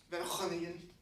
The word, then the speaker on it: Van Groningen: What is the actual pronunciation? Van Groningen.